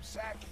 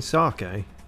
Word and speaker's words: sake: alone there's also some saki in the kitchen good stuff saki do you mean sake i'm not one to pick up on people mispronouncing yes i am what